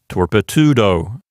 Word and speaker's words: torpedo: Since the penult contains a long vowel, it makes the whole syllable long, and so the penult is long. therefore it will keep the accent. So this particular word sounds like torpedo.